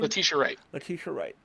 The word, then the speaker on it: Letitia Wright: Latia Wright, I think is how you pronounce her name. Letitia Wright.